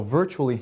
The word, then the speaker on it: virtually: So virtually has 4 syllables, 4 vowel sounds. Virtually. Now one of those gets the accent, which means we say it louder than the other. So which one? The first one.